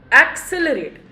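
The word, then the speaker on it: accelerate: एक्सेलरेट, हमने फिर pronunciation में जोर कहाँ डाला बच्चों, एक्सेलरेट, सी पे, इसलिए सी आपको यहाँ पे डबल दिख रहा है।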